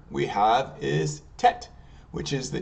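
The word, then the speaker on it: טית: And the next letter we have is Tet, which is the T sound. And Tet in English is spelled T-E-T. In Hebrew, Tet, Yud, Taf.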